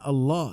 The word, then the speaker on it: Allah: akan kita sebutkan sehingga dibacanya dengan Allah dengan ada tafkhim berat ketika membacanya dan nama ini dalam